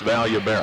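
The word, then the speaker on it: Vallobera: there will tell you the double l at the start of a name is pronounced like a y that's valuable here's the inbounds between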